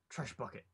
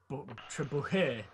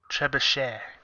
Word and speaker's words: trebuchet: Trash bucket. Trash bucket? Is that what you call it? I pronounced it wrong. Okay. Trebuchet. Trebuchet.